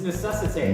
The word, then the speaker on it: necessitate: It's necessitate. Necessitate. You're missing a whole syllable.